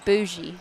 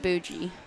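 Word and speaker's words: boujee: I'm not going to quote you, but I believe it's pronounced bougie, not bougie.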